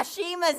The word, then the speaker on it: Ashima: They got Ashima's name wrong.